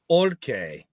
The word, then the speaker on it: Oelke: I guess You don't pronounce the first letter. in Germany, it's pronounced Oelke. Oelke.